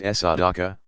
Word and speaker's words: sadaqah: Those and all other voluntary charitable donations are called sadaqah. Pronounced sadaqah, righteousness, uprightness.